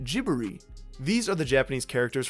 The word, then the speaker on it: Ghibli: pronunciation I use is Ghibli and the pronunciation I heard from the clips is more like gibbery these are the Japanese